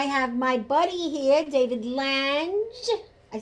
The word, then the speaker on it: Lange: I have my buddy here, David Lange.